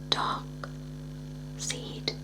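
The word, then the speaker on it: Darkseid: Free will, which could grant the fascist dark seed power over all. Dark side, dark side, dark seed. It's spelled like this.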